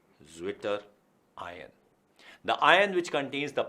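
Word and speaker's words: Zwitterion: बात होती है तो एक जर्मन वर्ड है स्विशन, ठीक है। अब स्विशन से बना है स्विशर। अब स्विशर की अगर स्पेलिंग बोली जाए तो इट इज स्विशर, जिसे अगर अंग्रेजी के हिसाब से बोला जाए तो इट बिकम्स ज्विटर। तो this is what we term as ज्विटर आयन।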